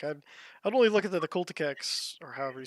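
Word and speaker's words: Culexus: Like I'd only look at the Culticex or however you say that. How do you say it? Calexis. Calexis. I totally nailed that pronunciation.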